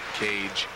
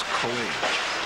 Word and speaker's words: Coage: Since people don't pronounce my last name correctly, they call me Coage, Coage, Cage, but it's Coage.